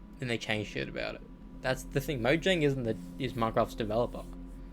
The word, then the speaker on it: Mojang: it that's the thing Mojang isn't the is Minecraft's developer mcraft Mojang bought Minecraft of Notch for couple million basically Notch is not even involved in it anymore um it's pronounced moyang which is cringe 2.5